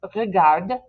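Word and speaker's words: regardent: Now, when we say this out loud, we usually say this, regarde, ENT is silent, but it's not going to sound right in front of elle, which begins with a vowel.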